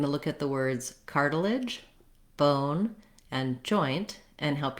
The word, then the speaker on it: cartilage: Then this letter T says more of a D sound. It's actually a flap because it's between two vowels and it's unstressed. It's followed by an unstressed syllable in this word. So think about it like a D, cartilage. This letter I has a schwa sound or maybe an I sound. It's a reduced vowel, so you want to